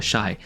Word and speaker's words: Shai: signature shoe for Shai, is it Shai or Shay? I've heard both. It's spelled S-H-A-I but usually I say Shai but it feels kind